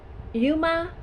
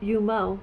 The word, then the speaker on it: Yuima Nakazato: his name correctly but it's Yuma and I was saying y yumo but Yuma yuima nakazato and he's a Japanese